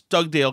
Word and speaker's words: Dugdale: heist um okay first of all did i pronounce doug dale correctly anthony you did it was perfect and